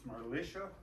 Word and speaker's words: Marlies: Marlies was Marlisha, and that's actually Peter.